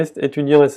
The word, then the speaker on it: étudiante: Y para decir, y el femenino de étudiant, porque étudiant es el masculino, el femenino sería étudiante. Y en este momento se pronuncia la T y se añade la E.